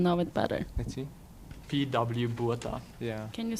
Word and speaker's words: Botha: P.W. Botha.